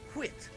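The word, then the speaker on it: Whyte: You see, the spelling here is W-H-Y-T-E, pronounced Whit.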